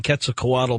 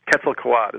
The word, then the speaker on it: Quetzalcoatl: I've been saying Quetzalcoatl because I always thought that L was significant at the end, but you're dropping it. Yeah, apparently the L is silent.